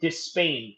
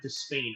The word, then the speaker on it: Despain: And by the way, it's pronounced Despain. Okay, thank you. That was the comment right there. Was saying Despain. Okay, so that is the pronunciation of it, Despain.